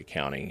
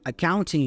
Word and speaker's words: accounting: All right, we have the word accounting here. Notice that we have the NT combination there. Usually, especially in American English, that T goes away. So, we pronounce the N instead. So, instead of accounting, we hear accounting.